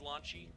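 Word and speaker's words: Wanshi: This is Launchy. That's how you pronounce it.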